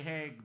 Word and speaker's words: Hague: And I had to say Hague because it rhymes with vague.